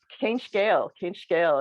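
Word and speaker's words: Cén scéal: So he got us sitting around, the kitchen table with some food and just, Céin scale is how you say, what's this, literally like, what's the story, or, what's your story?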